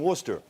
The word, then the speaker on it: Worcester: quick to learn that no matter how it was spelled, Gloucester and Worcester are still pronounced Gloucester and Worcester, and it's Faneuil Hall, not Faneuil.